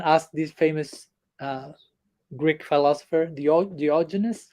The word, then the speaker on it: Diogenes: Once someone asked this famous Greek philosopher, Diogenes. How do you pronounce that in English? Okay, Diogenes.